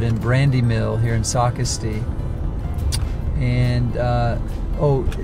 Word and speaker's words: Socastee: brandy mill here in Socastee and oh do you know how Google pronounces Socastee when you're following the Google Maps it's Socastee it's a caste which I'm gonna start